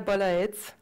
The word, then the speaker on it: Balaet: So my name is Balaet, that's how you pronounce it.